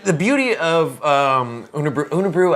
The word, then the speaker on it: Unibroue: beauty of um under unabru i we think is how it's pronounced it's not unibrow um but i pronounce